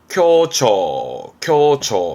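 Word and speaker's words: 凶兆: 그래서 흉조, 발음은 켜처 합니다.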